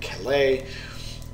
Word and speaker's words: Calais: and American forces were going to land near Calais that's how it's pronounced at the lowest part the English Channel